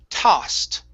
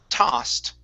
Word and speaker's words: tossed: Okay, this word here, instead of toasted, okay, the O is an ah. Tossed. Tossed.